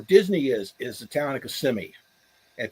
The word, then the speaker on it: Kissimmee: People where Disney is the town of Kissimmee, and people laugh if you pronounce it Kissimmee. They'll make fun of you.